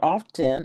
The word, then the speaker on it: often: You don't pronounce the T. It's not a hard T. It's not often.